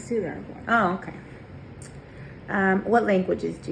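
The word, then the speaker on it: Ciudad Juárez: And city of how do you say that? Ciudad Juarez.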